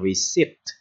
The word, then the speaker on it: receipt: Bạn thấy cái từ này nè, chữ P nè, nhưng cái từ P này bạn không có đọc nha. Cái từ P này bạn không đọc nha, bạn đọc là receipt, là B, cái từ P này là bị cấm đó, ok chưa?